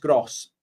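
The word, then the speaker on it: Groß: It's It's pronounced Gross.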